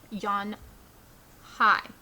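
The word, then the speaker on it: Unhei: she nodded slowly yes it's pronounced yon hi and it means grace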